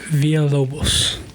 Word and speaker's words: Villalobos: Villalobos.